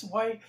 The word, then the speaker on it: swai: again this is SW I think it's pronounced sway s w Ai and they're just